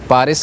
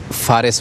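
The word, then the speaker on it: فارس: जूबी हिस्सा आता है जिसको पारिस कहा जाता है। ठीक। और अरबी जब जुबान में हम उसको प्रोनाउंस करते हैं तो ये लफ्ज फारिस बनता है।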